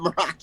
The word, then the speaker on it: Moroccians: Now I don't know the name, but is it Moroccians? You did actually say it correctly Yes. there, yes. Okay. All right. Not I realized I had Moccasinians. put myself to know.